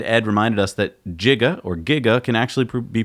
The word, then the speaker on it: giga: getting jiggy with it no because that's not how you say it its Giga everyone says Giga at least in the